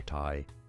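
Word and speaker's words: 羊蹄: The Japanese pronunciation Yote. Yote. Yo, Yotai. Oh. Oh. Yo. not Te. Yotai.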